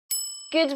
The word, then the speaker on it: good: Notice the g sound at the beginning and the d sound at the end.